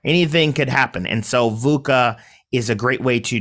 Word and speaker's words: VUCA: saying it correctly and it's an acronym uh vuca and that is v-u-c-a it's an um which